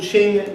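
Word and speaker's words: Qing: foundations they found you what they called the Ching dynasty currently spell Q I and G you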